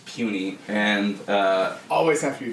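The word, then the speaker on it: puisne: justices about that term I know it's spelled Pew sign but it is puny and always have to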